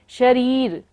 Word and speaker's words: शरीर: ऊपर तीन शरीर भीखाराम शरीर पर बड़ी की मात्रा है से इसलिए हमें इसको लंबा लेना है शरीर शरीर भिक्षु ने आक्रांत आक्रांत